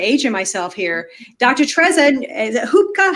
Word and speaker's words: Hubkova: Tereza Hubkova, how do you say Hubkova?